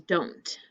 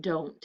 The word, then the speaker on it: don't: learned do not becomes don't and it's special because the way it's pronounced we don't say don't write do do not don't it changes from ooh to o the vowel changes usually in a contraction